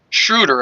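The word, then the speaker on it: Schröder: Where was Dennis Schroeder yesterday? Shruder, I should I should say. I think that's how you pronounce it. It's Dennis Shruder. Not Schroeder, but And Keon Ellis.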